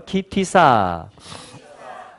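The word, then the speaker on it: כי תשא: 이것은 키라고 읽혀지고요. 이것은 티사라고 읽혀집니다. 한번 해볼까요? 키티사.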